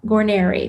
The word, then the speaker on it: Guarniere: episode episode 44 nurse resumés Made Easy Amanda Gary did I pronounce it right yes you did yay okay